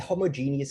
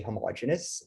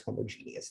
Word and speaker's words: homogeneous: problem okay i i the homogeneous is the correct pronunciation but i used to say homogeneous and that's sort of wrong so i might alternate between them but for the sake of clarity it's homogeneous that's the actual correct word and this will